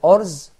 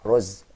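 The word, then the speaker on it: أرز: for example, when I say orz, so I find it difficult for me, and I have much time, a long time to say orz, so roz, okay, for short, clear cut.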